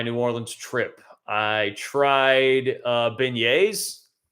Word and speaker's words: beignets: I tried beignets, right? That's how you pronounce it.